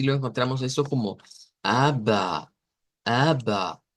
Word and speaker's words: aber: Y así lo encontramos esto como ABBA, ABBA. Entonces no es como ABER, como pensaríamos que vamos a leer la R, sino como ABBA.